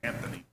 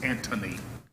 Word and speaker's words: Antony: and mark ant anthony i always thought there's an h in there anthony but it's antony it was mark anthony